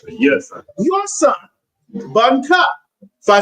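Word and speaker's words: בן: Son of Judah, son Bun. So son is Bun. Okay, and you can think it rhymes. Son Bun.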